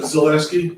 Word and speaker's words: Zaleski: Zaleski, Oh, okay. sorry, Spell it for me if you don't mind.